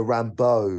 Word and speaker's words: Rambeau: No, it's a Rambo. It's spelled differently.